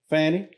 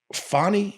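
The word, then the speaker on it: Fani: it up when we how did you pronounce it just now uh fonnie no you said fanny fonnie has a fanny if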